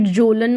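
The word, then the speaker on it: Kjølen: है आपके ठीक है फिर जोलन माउंटेंस है के यहां पे साइलेंट है जोलन माउंटेंस है ठीक है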